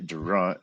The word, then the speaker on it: Durant: 1908 General Motors was founded by entrepreneur William pronounce that one William crapo Billy Durant and foot Michigan I wonder if yeah it's